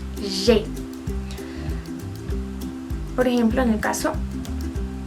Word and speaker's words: j'ai: Entonces, yo les explicaba que yo no había pronunciado j'aille, sino je, que la A y la I se pronuncian como una E.